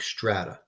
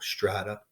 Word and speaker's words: strata: Well, if the rock layers are deformed, we call this deformed rock strata. Strat rhymes with flat.